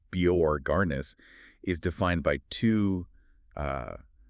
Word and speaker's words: Borgarnes: And what's fascinating here is that Borg and it's pronounced Biorarnis is defined by two uh profoundly intense and linked narratives.